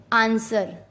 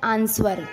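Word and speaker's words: answer: जब S के बाद W आता है तो भी W नहीं पढ़ा जाता, W साइलेंट रहता है। जैसे आंसर। कुछ लोग इसको बोलते हैं आंसर, तो वो गलत है, इसको बोलते हैं आंसर।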